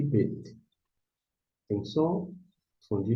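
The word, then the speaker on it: בּ: O BET, você pronuncia BET.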